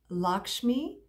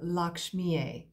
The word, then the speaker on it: Lakshmi: And it is the beautiful goddess Lakshmi, and some pronounce her Lakshmiye, depending on your dialect, if you are familiar with any of the Hindu texts.